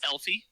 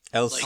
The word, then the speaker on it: Elsie: Did you say Elfie? Elsie. Elsie. With an S sound.